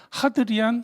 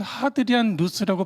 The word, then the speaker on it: 하드리안: 하드리안 혹은 하드리안 루스라고 발음되어지는 인물이에요.이 사람이이 유대인들을 제압하고 나서 예루살렘의 이름을 바꿔 버렸어요.